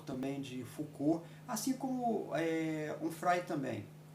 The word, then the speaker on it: Onfray: Onfray, né? Se utilizar a pronúncia francesa, que é um filósofo francês, todos os dois vivos ainda.